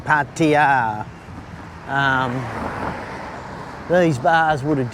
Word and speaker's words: Pattaya: So I would have thought once you got out of Pattaya, uh Pattaya, I've got to get that right pronunciation. Pattaya.